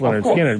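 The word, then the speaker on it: Lynyrd Skynyrd: album as a whole that was better than pronounced leard skinnard because of just the sheer number of hits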